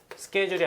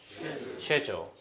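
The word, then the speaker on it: schedule: 여러분들 다 아시는 이거 스케줄이 아니라 영국발은 어떻게 해 세주 세주 쉐조 그리고이 단어가 레버토리인데요 그리고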